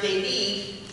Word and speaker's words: David: Once in the country, they boarded a commuter plane and flew to the little town of David, which is pronounced David, where they did a series of shoebox distributions.